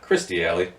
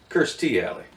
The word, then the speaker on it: Kirstie Alley: from Cheers his name it's not Christy Ali it is Kirstie Alley and if anybody doesn't know what Christy Ali is she used to be super hot right Kirstie Alley from Cheers yeah yeah